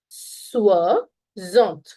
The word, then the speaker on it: soixante: And 60 is going to be, remember this as Swarovski diamonds. Okay, that's how you can understand the pronunciation. So it's going to be soixante. Soixante.